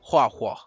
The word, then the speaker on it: HuoHuo: There's not an A in there. Here I see it. HuO, so I go HuoHuo.